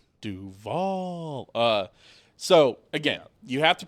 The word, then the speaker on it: Duval: win, they have to change how they say Duval. Then they all have to say Duval. Like, they have to. Duval.